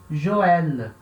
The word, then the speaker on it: Joël: E a mesma coisa onde eu uso sobre a vogal E, tá? Onde eu uso sobre a vogal E também, para indicar que eu tenho que falar o som do E.